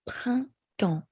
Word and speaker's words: printemps: So I'm going to start with printemps. So we have the PR sound, and then un, which is a nasal sound. And then next is T, and then we have the on, which is a nasal sound. And that's it. Printemps. So the N, the P, and the S are not pronounced.